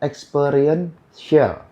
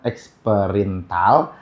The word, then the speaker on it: experiential: Jadi pengucapan yang benar adalah experienceal. Oke, experiential learning. Bukan experiential, bukan eksperintal, bukan eksperimental, bukan. Yang benar adalah experiential learning atau disebut bahasa Indonesianya adalah pembelajaran berbasis pengalaman.